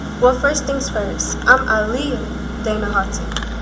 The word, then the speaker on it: Aliyah: I'm Aliyah Dana Houghton. And yes, it's pronounced Aliyah. I know a lot of people get it wrong.